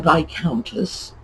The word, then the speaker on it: viscountess: So just remember, the S is silent.